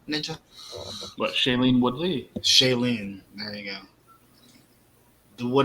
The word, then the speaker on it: Shailene: you say her name ninja what shaylene woodley shailene there you go it would have been um